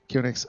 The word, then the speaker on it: QNX: And first out will be Linda Campbell from QNX, or QNX, how you pronounce it? QNX, okay.